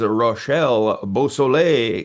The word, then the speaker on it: Rachel Beausoleil: And this is Roshelle Bosle.